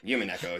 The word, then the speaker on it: Umineko: And then somebody told me about Umineko, or rather, Umineko, as you pronounce it.